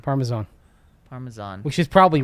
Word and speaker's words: Parmesan: I may have misheard, but I recall Mace having a different pronunciation among a Z, or favoring a Z sound in place of an S.